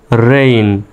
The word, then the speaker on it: reign: আর এই শব্দটা হলো REIGN, এই শব্দটা হলো রেইন, IGN আছে শব্দের শেষে, রেইন।